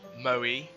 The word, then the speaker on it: moe: its use Bing okay Moe pronounced mo e okay is a Japanese